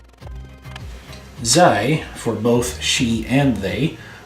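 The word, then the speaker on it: ze: And it's simply pronounced E. Zij, for both she and they, also has a shortened version, which is pronounced z.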